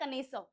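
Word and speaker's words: connoisseur: कनेसर इस वर्ड का प्रोनाउंसिएशन होता है कनेसर।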